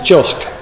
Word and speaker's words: JOSC: I wanted to ask you first about the role of Josh, I think is probably the best pronunciation I can achieve. It's JOSC. JOSC.